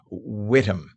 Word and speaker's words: Witham: And I said Witham. It's apparently Whittam, not Witham. They don't pronounce the. It's Whittam.